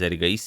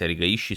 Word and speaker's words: Erigaisi: videos that i've made i pronounced that as eric then i've received some emails that it's actually pronounced erika ishii so uh sorry about that